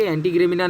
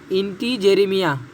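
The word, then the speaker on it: integerrima: कर्कट श्रृंगी का देखिए पिस्टेचिया, इंटीग्रेमिना, ओके, एंटीग्रेमिना नहीं है, आप प्रोनाउंस करिए इंटीजेरेमिया, ओके।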